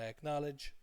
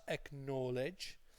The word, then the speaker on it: acknowledge: and they think it's acknowledge. But it's not acknowledge, it's acknowledge like college.